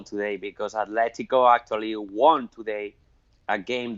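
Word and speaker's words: Atlético: Atletico is pronounced with a T, not with a TH. Atletico.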